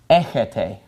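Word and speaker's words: ἔχετε: This word is pronounced echis, and this is pronounced echete.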